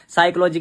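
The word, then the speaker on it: psychology: अंदर वो पढ़ाया था साइकोलॉजी की मीनिंग पी से स्टार्ट होती है एस से नहीं और पी साइलेंट अबे बहन के लड़ो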